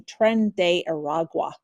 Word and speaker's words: Tren de Aragua: weekend, and we were talking beforehand how to pronounce this. It's the Venezuelan gang Tren de Aragua.